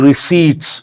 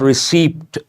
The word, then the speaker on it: receipt: the main headline GST receipts here the letter p is silent how do you pronounce this not receipt p is silent receipt